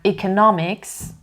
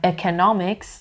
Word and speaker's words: economics: این لغت 2 مدل pronunciation داره و تو هر 2 مدل stress همینه. nomics یعنی استرس روی سیلاب دومه. تفاوتشون توی pronunciation vowel sound اولش هستش که هم به صورت ا میتونه تلفظ بشه هم ای میتونه تلفظ بشه. چه بگم economics چه بگم economics both are correct.